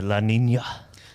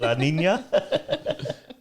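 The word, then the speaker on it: La Niña: reckon that's What- from the La Nina? Is that how you say it? La Nina? Yeah. In a Latino accent.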